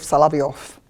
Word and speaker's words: Solovyov: vladimir sergeyevich salaviov my pronunciation is i use pronunciation how is in russian in case of salaviov but in case of florensky i will use